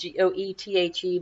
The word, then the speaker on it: Goethe: supernatural and the text was actually written by Goethe it spelled goe th e but it's pronounced to goethe and he was a very